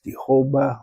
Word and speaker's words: Jehovah: to his people uh it could be pronounced as Jehovah or Yahwe.